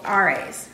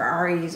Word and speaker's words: Ares: He's called Ares, or Ares, or A-R-E-S.